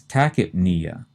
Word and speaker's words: tachypnea: The next term has the opposite meaning, and that's tachypnea. Again, we pronounce the first two syllables tachy and the P as tachyp, which seems really weird. Tachyp, we stress the knee, and then Tachypnea is what based on its word parts?